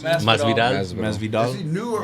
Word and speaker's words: Masvidal: How do you pronounce it? Masvidal.